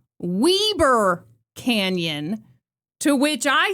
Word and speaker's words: Weber: Well, the people of Utah have told me that it's actually pronounced Weber Canyon, to which I say weber change the spelling then.